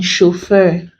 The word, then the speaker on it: chauffeur: We then have it in words containing AU, as in chauffeur.